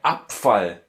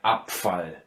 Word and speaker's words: Abfall: And so it goes for der Abfall. Yeah? Here, consonant is following the B, so the B loses its softness again and it becomes something like a P. So der Abfall.